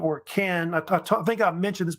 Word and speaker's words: Qin: course they had this Kingdom called Ken so they pronounced it also chin as well and it